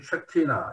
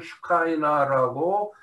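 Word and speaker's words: Shekinah: 자, 이러한 하나님의 나타나심, 하나님의 임재하심, 하나님께서 하나님의 백성들 가운데 임재하시는 것을 보고 히브리어로는 쉐키나라 그래요. 여러분 다 들어보셨지만 쉐키나, 영어로는 슈카이나라고 발음을 합니다.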